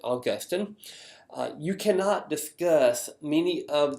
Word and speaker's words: Augustine: Augustine, but my church history professor at Beeson was a good Brit, so I learned to pronounce it Augustine.